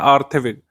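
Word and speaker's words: Kjær Theilvig: Miss universe 2024 घोषित की गई है विक्टोरिया ज़ारथेविग, विक्टोरिया ज़ारथेविग या आर्थेविग इनका पूरा नाम है। इनका नाम है विक्टोरिया आर्थेविग, ये सही प्रोनाउंसिएशन होता है हिंदी में, बाकी लिखा ऐसे ही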